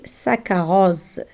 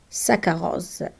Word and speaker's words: saccharose: When we have double C and H, we read them K. For example, saccharose, saccharose.